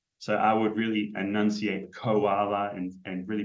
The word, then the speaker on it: koala: So I would say koala. Koala with a co at the beginning.